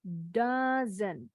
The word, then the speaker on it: dozen: Yang ini bacanya dozen. O-nya bunyinya jadi A.